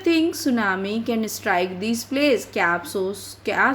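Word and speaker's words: tsunami: बच्चों, मैंने आपको बताया था सुनामी इसको प्रोनाउंस करते हैं, तो आपको याद हो गया ना, इसको टी सुनामी नहीं बल्कि सुनामी बोला जाता है।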